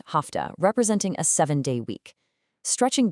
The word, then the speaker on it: hafta: We've got hafta, pronounced hafta, representing a 7-day week.